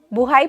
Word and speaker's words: buhay: Buhay pa ako. I'm still alive. Buhay pa ako. But when the emphasis is on the first syllable, it means life. Buhay.